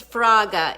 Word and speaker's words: Fraga: We have the beautiful, amazing Grace Fraga. Am I pronouncing it correctly?